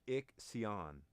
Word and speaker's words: Ixion: He said it's pronounced. It's like Ixion. Ixion. Okay. Ixion. Okay, so it's not Ixchin.